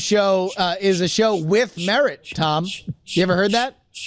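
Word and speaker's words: Merritt: It's merit. Merit. Right? 2 R's and 2 T's, but that's a different word. It is. But Yeah, but also, it sounds like the word.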